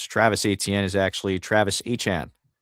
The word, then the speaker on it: Etienne: Um and the other uh silly news was Travis Etienne is actually Travis E-T-N. Yeah. Turns out that was actually his name. It's Travis E-T-N? E-T-N.